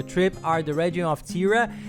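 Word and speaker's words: Thira: The two main ones that you'll probably focus on during your trip are the region of Tira. It's a little difficult to pronounce things there, get used to it, but it's spelled T-H-I-R-A.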